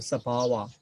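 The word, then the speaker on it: sabhāva: other than translation then sabawa so i just pronounced to give you to introduce you the pali pronunciation sabawa the own translates nature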